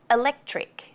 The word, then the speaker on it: electric: Electric. Electric. Sometimes we drop the C in this one too and say electric, electric, or electric, depending on how lazy you feel. Both are correct.